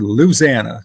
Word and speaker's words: Louisiana: on down toward Louis Louisiana or as they say down there Louisana two syllables all right um from